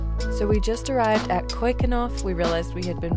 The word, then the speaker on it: Keukenhof: Today we are heading off to Keukenhof, Tulip Festival, which is really, really nice.